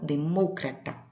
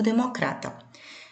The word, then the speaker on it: demócrata: Na língua portuguesa, eu digo democrata. A forma de escrever igual entre as duas línguas. Os significados iguais. No entanto, a maneira de pronunciar muda porque a sílaba tônica mudou de lugar. No espanhol, demócrata.